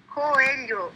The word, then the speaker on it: Coelho: Coelho. We don't have the L-H sound in the English language.